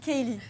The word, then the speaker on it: Caleigh: tablier, c'est donc Kaylee. Ça s'écrit pas du tout comme ça, c'est écrit C-A-L-E.